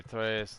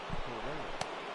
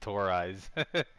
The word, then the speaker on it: Torres: Yeah, Tor Eyes. Oh, it's Mr. Tor Eyes. Substitute teacher pronunciation.